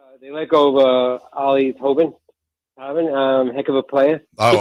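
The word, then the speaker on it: Toppin: They let go of Ollie Tobin. Heck of a player. Oh, I love Ollie Tobin.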